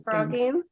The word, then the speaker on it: phrogging: never knew the term frogging. I was aware of the phenomenon of hiding in somebody's house, but I'd never heard it called frogging, which is spelled with a ph.